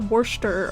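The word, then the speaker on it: Worcestershire: that sounds really fun not the worst pronunciation I've heard for Worchester Shire yeah I can't imagine it being the said the way that it's said hel has told me it's something like Worster or whatever I can't uh why are there so many syllables then are they all silent like about three silent syllables in there okay we want my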